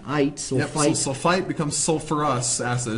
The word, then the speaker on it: sulfurous: sulfite becomes sulfurous acid it's not sulfus acid we put the r back in there from sulfur sulfurous suurus sulfurous well I've always called it sulfurous oh well yeah different pronunciation I whatever West suurus I think it's suurus all right I uh